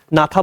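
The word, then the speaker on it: gnatha: तो मैंने कहा कि जॉ को हम नाथा बोलते हैं तो जी साइलेंट है तो जब बटेगा तो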